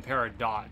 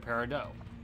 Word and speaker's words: peridot: I used to call them peridot, but they're not peridot, they're peridot. Because it's French.